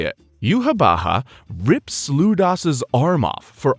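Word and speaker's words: Yhwach: Eurn along with Ludas and the people who just threatened Yamamoto meet this so-called Quincy king, Yuhabaha. Yep, that's how you say it. Yuhabaha rips Ludas's arm off for arguing with Eburn.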